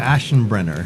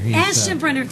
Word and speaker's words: Aschenbrenner: Aschenbrenner. Aschenbrenner.